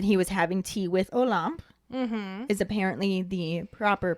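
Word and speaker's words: Olympe: hagrid explains that he was having tea with olamp is apparently the proper pronunciation according to the youtube video that i watched because i was saying a limp or olympia i didn't really know how to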